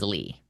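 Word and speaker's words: Leigh: L E I G H is a name that is Lee. Like it's like the feminine version of Lee.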